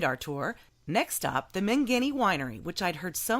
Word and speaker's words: Mangini: I've never known how to pronounce that. Mangini.